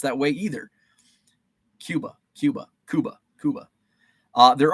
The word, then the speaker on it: Cuba: it says Cuba Cuba The Fulton County City mirrors the Spanish not English pronunciation of the island nation okay so it is